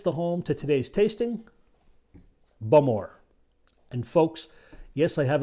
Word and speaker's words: Bowmore: within isley sits the home to today's tasting bum or and folks yes i have it on very good authority that the correct pronunciation is indeed bummer not balmor bulmore founded in 1779 it is indeed the oldest